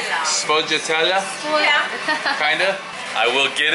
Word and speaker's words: sfogliatella: Pardon? No, sfogliatella.